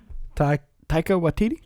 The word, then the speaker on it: Taika Waititi: Taika Waititi?